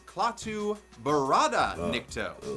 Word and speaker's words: Klaatu Barada Nikto: Klaatu, Barata, Nikto. But he doesn't say every single little syllable right, since the actual phrase is Klaatu Barada Nikto, as established in The Day the Earth Stood Still.